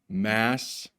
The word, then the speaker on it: Massachusetts: in Massachusetts is Boston Massachusetts is not that difficult to pronounce the important thing is like don't look point that way don't look at the way it's spelled just look down here massetts and then just say it really fast Massachusetts so here